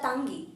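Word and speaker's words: ತಂಗಿ: It's a ta sounding. So do not pronounce as a tangi. It's a tangi, ta sounding.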